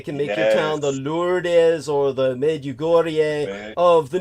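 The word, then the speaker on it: Lourdes: a reason to exist I'll make it the lordes for those of you who don't know that's spelled l u r yeah yeah l o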